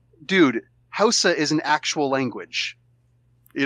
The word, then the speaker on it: Hausa: And that and was actually... pronounced Osa. Ooh. You got to do the click with your tongue.